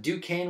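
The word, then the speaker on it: Duquesne: the whole thing because everything how do you pronounce that ducane whistle that's how it's pronounced in the front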